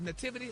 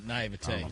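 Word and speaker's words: naiveté: How do you say it? Nativity or naivety? Naivete. Naivete. All right.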